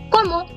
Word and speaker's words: comment: Now the sound of first one is como. Repeat after me. Como. Como. The next one is ale. Ale. Vous. Comment allez-vous? So we have silenced all the last letters, which is what we learned.